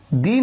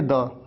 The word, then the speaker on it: the: तो यहां पर आप इसे दी नहीं बल्कि केवल द ही प्रोनाउंस करते हैं। और यहां पर सिंपल है, आप इसे कहेंगे द पेन, द पेन, द university, दी एंड।